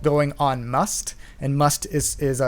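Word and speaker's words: musth: Maybe I'm alone when it comes to that, but they do this thing called going on must. And must is spelled M-U-S-T-H.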